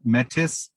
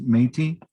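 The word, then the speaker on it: Métis: term uh phonetically it looks like it's a metis but it's pronounced metis which means uh mixed or mixed blood you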